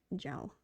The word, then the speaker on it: Zhao: The ZH is pronounced J. So it's Zhao? That makes sense, actually. That makes sense as to why, how that sound, how those letters made that sound. Zhao.